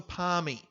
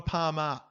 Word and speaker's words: Palmy: Also, it's a palmy, not a palmer.